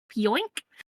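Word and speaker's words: Pionk: And lastly, for Winnipeg, Neil Pioink. Literally how that looks like it's pronounced.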